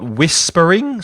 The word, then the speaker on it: whispering: to read we've got Whispering so a silent h there Whispering it might help